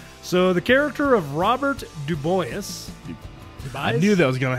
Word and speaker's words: Dubois: So the character of Robert Dubois. I knew that was going to happen, too. How do you say it? Dubois. Dubois. It's French.